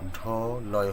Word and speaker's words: ঢল: অর্থাৎ সেই বর্ণটা উচ্চারণ করার সময় সেইখানটা একটু একটু চাপ হবে, ঢল, লয়ের মধ্যে একটু প্রেশার হবে।